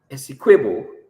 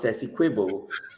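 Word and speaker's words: Essequibo: Mr President Maduro declaring squo correctly pronounced sess quibble a state of Venezuela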